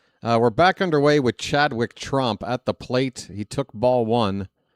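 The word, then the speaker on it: Tromp: It's Trump. Oh. Rhymes with stomp. Or romp room. Folks, we got a full count on Chadwick Trump.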